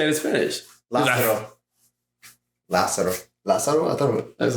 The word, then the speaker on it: Lázaro: Lázaro. Lazaro? I thought it was like Lazaro. No, Lázaro. You don't how do you say R's? Huh? Lázaro. Lázaro. It's only one R.